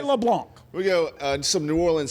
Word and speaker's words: LeBlanc: That is a silent C, not a hard C. And I'm going to continue to talk about this until the LSU voice gets it right. LeBlanc.